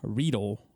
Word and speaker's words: Riedel: So, our wine glasses are Riedel, rhymes with eagle.